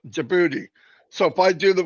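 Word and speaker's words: Djibouti: jaboti jouti jouti yeah it's spelled with a d but I think it's silent jouti so if I do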